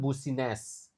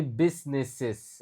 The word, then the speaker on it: business: Jadi, U-nya sama sekali enggak dibaca. Bukan busines, tapi bisnis.